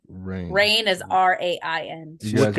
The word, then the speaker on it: Rian: It says Ryan Craig Johnson, pronounced Ryan.